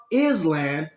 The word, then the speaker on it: island: we all agree that a word that is clearly spell is land we going to pronounce it Island we all agree on